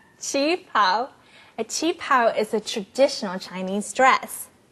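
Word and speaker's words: qipao: pretty how do you say that word again Ching pow Chief pow a chapw is a traditional Chinese dress Lunar New Year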